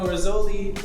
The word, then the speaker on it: Rizzoli: Oh, the first So if you didn't know, Rizzoli rhymes with cannoli, and Nick just happens to be Italian.